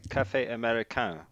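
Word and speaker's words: Café Américain: of Paul's articles from Cafe Americain. But first, Paul, is that how I say that? Am I saying that right? That's how it's spelled. It's almost. I think it's more like Cafe Americain.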